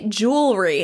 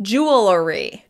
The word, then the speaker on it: jewelry: There is the secondary pronunciation of the word, which is the one I'm using, jewelry. And so I have been pronouncing it correct using my regional pronunciation, but it's actually pronounced jewelry.